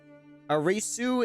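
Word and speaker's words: アリス: coming from heiress arisu is alice in japanese oh really a reese was the japanese pronunciation of alice what do we know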